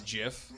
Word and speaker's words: gif: medium somewhere in between did you know the correct pronunciation is jiff did you know it's